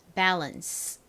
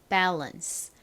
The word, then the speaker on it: balance: 뭐 이런 말을 쓰잖아요 한국식으로 읽을 때에는를 둘 다 아 소리로 읽어서 보통 밸런스 이렇게 많이 쓰고 읽으시는데 실제 미국식 영어 발음으로는 balance balance 요렇게 발음을 합니다 자 따라해 보세요 balance